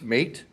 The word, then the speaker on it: Mate: Thank you for pronouncing Mate Beer correctly. It's M8, but we always are happy to hear, good day, mate.